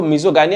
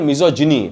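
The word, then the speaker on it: misogyny: तो आप ये कह सकते हैं कि इसको मिजोगाइनी या मिजोजिनी, प्रोनाउंसिएशन में मिजोजिनी भी बोल सकते हैं आप, बट मैं एग्जाम के पर्सपेक्टिव से पढ़ाता हूँ, स्पेलिंग याद हो जाए तो आप मिजोगाइनी बोल सकते हैं। अगर आप इसको स्पोकन के पर्सपेक्टिव से देख रहे हैं, स्पोकन के नजरिए से देख रहे हैं, तो आप इसको मिजोजिनी पढ़िएगा।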